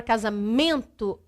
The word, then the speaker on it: casamento: Na palavra casamento, se você fala a palavra casamento, nós sabemos que a sílaba mais forte é men. Então, eu tenho a sílaba mais forte, men.